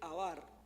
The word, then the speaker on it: abar: Trascender viene del hebreo abar, así como se escribe, abar, y significa pasar y cruzar.